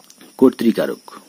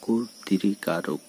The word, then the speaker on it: কর্তৃকারক: যেমন কর্তৃকারক বক্তৃতা, তো বলা হচ্ছে ঋকার যুক্ত ব্যঞ্জন বর্ণ দেখে কয়ের সঙ্গে যে অ রয়েছে এরপরে কিন্তু ঋকার যুক্ত ব্যঞ্জন বর্ণ রয়েছে, তো এর উচ্চারণ হচ্ছে কয়ের সঙ্গে অয় রয়েছে এর উচ্চারণ হচ্ছে ওয়ের মতো।